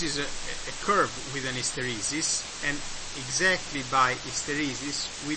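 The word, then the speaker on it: isteresi: In Italian is called hysteresi, with an accent on the first E.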